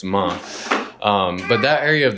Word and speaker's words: Man: the region of ma it's spelled like man but you leave off the N so it's month um but that area